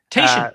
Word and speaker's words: Tatian: and I don't know how to pronounce his name, Tatian, I think. Tatian. Yeah, you're right. Yes. Tatian.